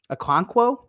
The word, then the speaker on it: Okonkwo: Can you say his last name? No. Okonkwo, I think. Okonkwo. I'm saying it right.